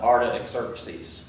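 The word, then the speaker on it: Artaxerxes: to the king um Arta exercies Mary was reminding me uh that her little trick is is it it's like artichoke but uh ARA exercies and I I don't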